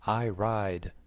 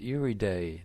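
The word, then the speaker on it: Iride: name for a bike I ride the exhibitor said it's pronounced Eerie day not I ride iriday is Italian for Iris Sean said who knew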